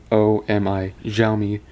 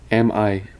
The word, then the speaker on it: Xiaomi: And yes, that's how you pronounce that. Xiaomi, Xiaomi Mi 4C.